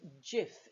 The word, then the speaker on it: Jif: product became sif cif because the letter j is not pronounced in a uniform way across the world in some countries it's a yeah or a ha so jif became safe